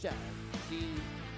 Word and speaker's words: Shanxi: We are in Shanxi, and this guy is fighting out of Shanxi. Pronunciation is slightly different. You got to add the extra A there, right? The one is Shanxi, and the other one is Sha'anxi.